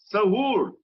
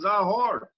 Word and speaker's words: Sahur: And 2 kilometers southwest of Uren is Sahur, mispronounced as Zahor, with Dakini grandmother's temple in it, which I just showed.